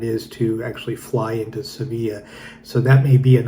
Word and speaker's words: Sevilla: going from like Madrid to Sevilla, or Seville as you may pronounce it.